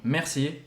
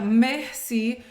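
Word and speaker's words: merci: temos essa a diferença entre mulher e homem Messi para os dois e presta atenção na pronúncia tá tem gente que pronunciar Mercy não é Mercy o som Ele é bem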